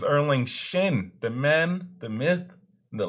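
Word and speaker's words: Erlang Shen: I think about it got his damn name wrong I was saying erlang shank he is erling shin the man the myth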